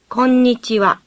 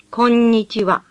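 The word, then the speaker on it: こんにちは: song mute awesome - when double letters appear in a Japanese word as in konichiwa the sound is repeated think of double letters as having a hyphen between them and pronounce both letters distinctly listen konnichiwa konnichiwa three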